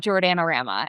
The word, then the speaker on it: Jordana: And mine became Jordanama. And part of that my name is long but I also think of like my name rhymes with banana and there used to